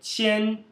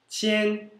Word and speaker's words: 千: Já o 1000, ele sozinho é qian, qian, Q-I-A-N no primeiro tom.